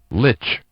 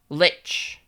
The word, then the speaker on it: lich: How do you say like? Lich. Lich.